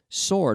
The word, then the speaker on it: sword: this is a sword sword with a silent w SW Ord now swords they make